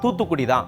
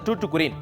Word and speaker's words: தூத்துக்குடி: தூத்துக்குடியை பற்றிய குறிப்புகள் இருக்கு தூத்துக்குடி அப்படிங்க கூடிய வார்த்தையை சரியா உச்சரிக்க தெரியாத ஐரோப்பியர்கள் அதை தூற்றுக்கு அப்படின்னு ஆக்கிட்டாங்க தூத்துக்குடியின் முக்கியமான உற்பத்தி பொருள்னா